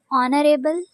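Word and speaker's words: honorable: है सजा देना ऑनरेबल यहां पे एज साइलेंट है ऑनरेबल मोज़िस एक्सीडेंटली हादसाती तौर पर एक्सीडेंटली हादसाती तौर पर दाखला दाखिले को इंग्लिश में एडमिशन कहते हैं।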